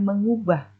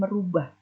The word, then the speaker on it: mengubah: Sedangkan kata bakunya mengubah, yang berasal dari kata ubah mendapatkan awalan me, kemudian diucapkan mengubah, bukan merubah.